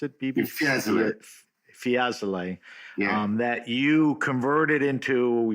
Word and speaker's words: Fiesole: But in 2019, you purchased the Hotel Via Aurora in, how do I pronounce it, Bibi? Fiesole.